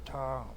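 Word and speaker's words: ṛta: come to something called the r or RTA is how it's spelled um it's just RTA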